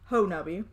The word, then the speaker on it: Honobia: So, Honubby, yes, I will, Honobia, pronounced Honubby.